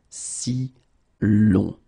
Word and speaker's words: si l'on: You will have to add this L just to get si long. All right, so if you say si well, basically, we think that it doesn't sound that nice.